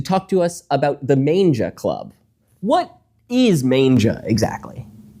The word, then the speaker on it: manga: to us about the Manga Club. What is Manga exactly? I have to correct you on that. It's pronounced manga. Manga.